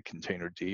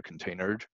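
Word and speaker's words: containerd: popular uh this instance runs a container D or containered depending on how you want to pronounce that and I don't know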